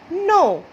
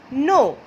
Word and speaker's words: know: Go, no. See, the pronunciation is rhyming. Go, no. The spelling is different, but the pronunciation is rhyming.